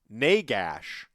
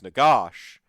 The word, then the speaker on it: Nagash: pan and they're like my the reason i pronounce negash uh as negas sometimes is because in a